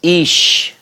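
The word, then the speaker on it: אִישׁ: Remember, aleph doesn't have a phonetic value, but what we have here, and then with the closing, it's the SH. So this is ish, ish.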